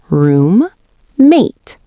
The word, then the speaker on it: roommate: Make sure you clearly say both M sounds. Room, mate.